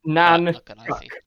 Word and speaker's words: Nahnchhuk: Nan Chuck.